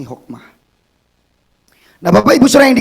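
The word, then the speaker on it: Hoekema: dari karangan Antoni Hokemah tulisannya Hokemah saya bacanya Antoni Hokmah nah Bapak Ibu Saudara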